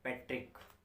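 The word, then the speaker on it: petrichor: शब्द में क्या बोलते हैं डेट इस एक्चुअली पैट्रिक पैट्रिक क्या बोलते हैं पैट्रिक स्पेलिंग ऐसी कुछ होगी जिसको बैटरी चोर पढ़ोगे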